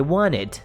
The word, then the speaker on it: wanted: Vou tirar esse T porque na verdade a pronúncia perfeitinha é assim, ó. I wanted, ok? Mas saiba que é o wanted que se escreve, mas a gente não pronuncia o T.